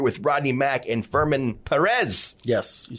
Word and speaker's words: Perez: We're here with Rodney Mack and Furman Perez.